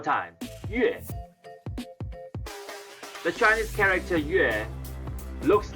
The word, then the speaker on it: 月: now let's learn how to say moon in chinese okay it is pronounced on the fourth tone so it's going down one more time yes the chinese character yue looks like a crescent